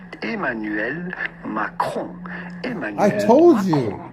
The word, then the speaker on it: Emmanuel Macron: So how do you go about pronouncing his name with the typical French pronunciation? Emmanuel Macron.